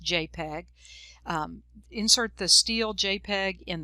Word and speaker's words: JPEG: and it's a jpeg jpg that's an image file pronounced jpeg insert the steel jpeg